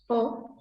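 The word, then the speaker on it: を: Nah umumnya kalau objek dalam bahasa Jepang pakai partikel o, pakai partikel wo. dibacanya O.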